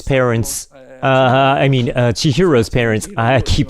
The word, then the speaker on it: Chihiro: So at 9 minutes, Chisato's parents, Chihiro's parents, I keep saying her name wrong.